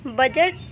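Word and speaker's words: budget: जैसे कि यहाँ पे देखिए बजट, तो यहाँ पे देखिए डी के बाद यहाँ पे जी आया हुआ है, तो यहाँ पे जो डी होगा वो साइलेंट होगा।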